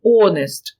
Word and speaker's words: honest: яка завжди говорить правду honest літера H не читається a person of believes